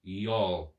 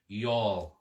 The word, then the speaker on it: Youghal: Youghal. That's for all my North Carolina friends. Youghal. It's spelt Youghal.